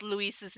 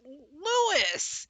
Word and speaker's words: Luis: I can't stand how it's like, it's not Louis, it's Luis. It's Luis.